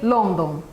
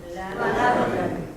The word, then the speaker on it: London: So you have to teach that you don't have O in English. You don't have O, okay? The sound O doesn't exist in English, okay? When you have O, you can guess a, and then maybe you are right.